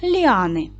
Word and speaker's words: ліани: Ліани наголос падає на другий склад.